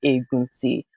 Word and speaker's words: Egunsi: but I spell it Egunsi. And when you actually understand the Yoruba alphabets, it's the N is actually silent, which is Egunsi.